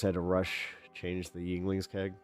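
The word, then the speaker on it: Yuengling: They always had to rush change the Yinglings keg. Oh, I call them I mean it's spelled like younglings and the Star Wars jokes right themselves.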